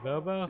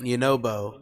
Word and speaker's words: Yunobo: How do you say it? Yabobo? Yunobo. Yunobo. Thank you, Mila, for liking the live.